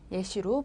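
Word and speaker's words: แยะ: 에 같은 경우에 짝대기가 하나 더 있는 거는 입을 크게 좀 더 벌려준다.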